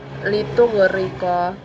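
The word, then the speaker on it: لِتُغْرِقَ: Contohnya yang saya temukan dalam ayat ini yaitu litughriqa, karena ra bertanda baca kasrah, maka dibaca tipis.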